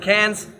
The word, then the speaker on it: Cairns: It's not Cairns, by the way. They pronounce it Cairns.